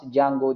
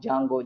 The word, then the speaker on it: Django: is there the jungle most of the people are going to pronounce jango jango jango that's all go okay like next one